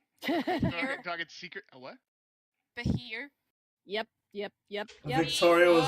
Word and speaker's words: Behir: How you spell it? Behir. Behir. Oh, I thought it was said Pakir.